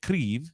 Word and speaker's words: Kyiv: As of yesterday, one of their main towers in Kyiv, however you pronounce it, it's apparently they say Kyiv, just so you know.